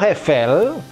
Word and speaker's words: Eiffel: La Tour Eiffel, menara itu La Tour feminin ya. La Tour Eiffel bacanya bukan Eiffel tapi Eiffel, ini berbunyi L ya, sambungannya itu berbunyi L.